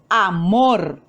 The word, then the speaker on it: amor: Amor. La mayor fuerza de voz la hacemos en la sílaba mor. Entonces, esa es la sílaba tónica de la palabra.